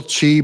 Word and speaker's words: Xi: before he moves on will chi break tell me in the chat below who will break first or Trump is spelled x I so just put in